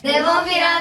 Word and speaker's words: Nemophila: Nemophila, Nemophila, Nemophila, Nemophila. And I now know that I'm pronouncing it exactly like they are.